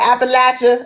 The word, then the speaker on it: Appalachia: Appalachian. It's that's how you pronounce it. Yep. Appalachia. Yep. It's Appalachia now. It's Appalachia. You said Appalachia.